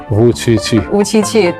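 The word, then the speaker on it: Vučić: They even give you a nickname called 577 because your pronunciation of your name, Wu Qiqi, yes, right? Actually, it's the same with the numeral pronunciation of Chinese.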